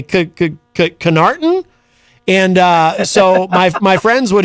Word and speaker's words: Connarton: So it's pronounced Connarton, but when I was